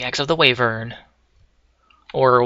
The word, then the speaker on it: wyvern: I've heard it pronounced even also i don't know why but oh well like the W is silent and the Y sounds like an e so even the bow